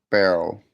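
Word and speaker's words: beryl: It's spelled B E R Y L barrel.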